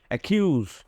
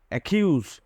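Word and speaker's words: accuse: হচ্ছে একাউন্ট একাউন্ট একাউন্ট ঠিক একই রকম ভাবে দেখো ডাবল সি আছে এরপরে কিন্তু ইউ আছে উচ্চারণটা হবে একিউজ একিউজ একিউজ এরপরে দেখো ডাবল সির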